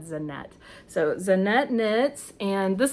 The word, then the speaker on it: Zanete: So I went on her YouTube and heard her pronounce it, and she said Zanete.